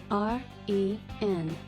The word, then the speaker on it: rendezvous: R-E-N-D-E-Z-V-O-U-S. Rendezvous. The silent Z is missing in the given word.